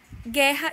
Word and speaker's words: guerra: no livro de vocês quando o que o e o g o são seguidos de é ou ir a letra u na maioria das vezes não representa nenhum som e portanto não é pronunciada veja alguns exemplos queijo